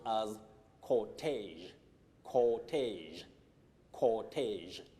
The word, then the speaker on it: cortege: This word is pronounced as cortege, cortege, cortege. It's derived from that is it originates from French.